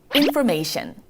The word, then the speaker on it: information: T-I-O-N으로 끝나는 건 이 I-O-N 발음 자체가 약간 on으로 끝나서 앞에 T랑 합쳐지면 그냥 이거는 shun으로 읽어준다 생각하시면 돼요. 다시 한번 T-I-O-N은 shun, T-I-O-N은 shun 이런 발음 갑니다.